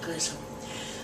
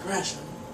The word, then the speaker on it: Gresham: I noticed in prior episodes I said Gresham. Just a habit of how you normally pronounce the name. I do apologize, Jermaine, if by some miracle you're watching this series. But it is Jermaine Gresham.